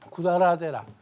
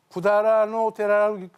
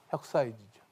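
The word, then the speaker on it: 百済寺: 근데 이걸 구다라노 데라라고 읽는가 하면 또 혁사이 지라고 해서 읽는 것도 있습니다. 혁사이. 음으로 읽으면 혁사이죠. 혁사이지죠. 그러나 일반적으로는 구다라노 데라. 그렇게 읽습니다. 여러분이 이제 일본 나가노현 가시면은 선광사라는 사찰이 있습니다.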